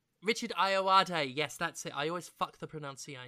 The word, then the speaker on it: Ayoade: it uh fantastic in it as well Richard ayalade Richard ayoade yes that's it I always the pronunciation apparently he was in the I.T crowd